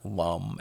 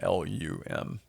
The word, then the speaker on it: Lam: for Madara is LAM it's spelled l a m but it's pronounced more like Lum l u m Lum um now lead